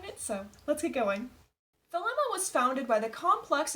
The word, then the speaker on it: Thelema: Thelema, or sometimes pronounced as Thelema, is a religious philosophy best thought of as an umbrella term.